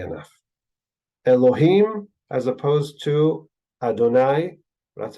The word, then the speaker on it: Adonai: in name interestingly enough Elohim as opposed to Adonai that's how it's pronounced we don't read it that way we